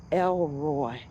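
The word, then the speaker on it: El Roi: but is spelled the one who sees E L and then R O I.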